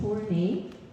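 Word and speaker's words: Tornai: My last name is Tornay, which is spelled T-O-R-N-A-I.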